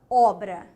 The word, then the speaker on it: obra: Lembrou do O aberto? Forte, tá? Ó, aberturazinha aqui para demonstrar que ele é forte, tá? Então, eu vou ter O, ó, o B é pronunciado, o R é pronunciado e o A também.